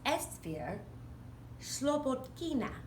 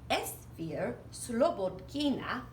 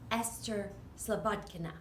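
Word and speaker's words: Esphyr Slobodkina: of times we say Esther slippage Kuna because we don't necessarily pronounce Russian names exactly the way they're pronounced in Russia she moved here from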